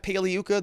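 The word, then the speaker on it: Pagliuca: defense did that remember jeff paliyuka the g is silent like lasagna he i think twice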